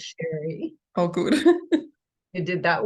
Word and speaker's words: Sheri: I'm curious well um you pronounced my name correctly it is Sherry oh good who did